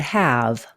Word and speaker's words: have: site word the word have h a v this word doesn't follow the rules if it did it would beave because of the silent E have is a site